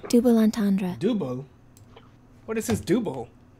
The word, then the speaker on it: double entendre: Double entendre. Double? What is this double? Double entendre. Oh no, we've been saying it wrong. Double entendre. This is bad. Double entendre. Double entendre. I guess it's French.